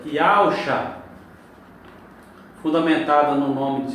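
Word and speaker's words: יהושוע: Yud, Re, Vav, Shin, Vav, Ain, que dá justamente Yahushua. Então, se nós lermos da direita, que é para a esquerda, Yahushua. Se nós analisarmos a fundamentação da pronúncia Yahusha, fundamentada no nome de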